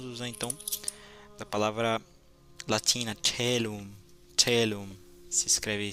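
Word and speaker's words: caelum: o assunto, vamos usar então da palavra latina telum. Telum se escreve c a e l u m.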